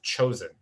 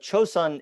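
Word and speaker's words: 조선: for several hundred years cho sen is the japanese pronunciation of that name which was used during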